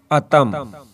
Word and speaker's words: اتم: Video شروع کرتے ہیں۔ اتم، الف پر زبر، تے پر بھی زبر۔ یہ لفظ عربی سے آیا ہے اور اس کا مطلب ہے پورا، مکمل یعنی کامل۔ اتم، الف کے اوپر پیش،